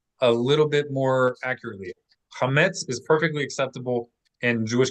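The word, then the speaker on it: חמץ: In biblical times, they were not saying chametz. How do we read it in biblical Hebrew? Anybody want to give it a shot? Think about which syllable to accent. Chametz. Anybody want to read? No. Note the dot under it lets you know that it should not be friction in your mouth. Cha is not guttural.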